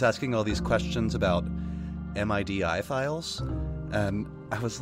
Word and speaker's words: MIDI: that you pronounce an mi di file a MIDI file and that's true for all that dot like file stuff gif JPEG MIDI you always pronounce it as a word not as a like